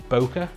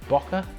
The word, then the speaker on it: bokeh: um lovely creamy background this is known as bokeh bokeh bokeh b-o-k-e-h i've heard it pronounced a million different ways um but this bokeh